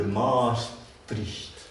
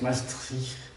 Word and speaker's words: Maastricht: 1992, en France, on vote pour ou contre le traité de Maastricht. Il paraît que ça se prononce Maastricht, mais les gens de droite appelaient ça Maastricht, parce que c'est strict, disons.